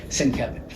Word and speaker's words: Sienkiewicz: And people say, I have a question, and invariably my first response would be Sienkiewicz, and they go, how did you know? But I would point to the pronunciation, and they'd look at it and go